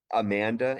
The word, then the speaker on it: Amanda: okay it always happens it's um a Manda like Maine fantastic and I was